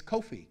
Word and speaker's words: Kofi: that's born on Friday your name is Kofi Kofi phonetically or we anglicize that into there are thousands and